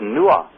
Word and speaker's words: Nuah: that came to Ireland, his name is Nuah, and it's spelled N-U-A-H, very similar to Noah.